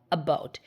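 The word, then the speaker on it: about: আমি উচ্চারণ করছি অ্যাবাউট এখানে স্ট্রেস আছে কার ওপর বির ওপর এখানে শ্বাসাঘাত কিন্তু বি এর ওপর তাই না বি দুবার উচ্চারণ হচ্ছে অ্যাবাউট দেখো ও ইউটি উচ্চারণ হয় আউট তাহলে বি দিলে বাউট আর এ বি অ্যাবাউট the election দেখো উচ্চারণ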